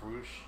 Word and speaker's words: Rush: He's a really massive dude, Rush, versus another Sammy, but spelled differently. Sammy Guevara? Sammy Guevara. I don't know anything about these guys. I would say it's actually pronounced Roosh.